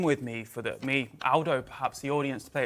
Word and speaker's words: Aldo: picked me up but it's Aldo not older Aldo's a very British